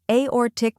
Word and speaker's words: Aortic: the correct pronunciation is aor Tick dissection first we have aor tick where a sounds like the letter A or is emphasized like an orbit and tick is short and crisp next dissec shun where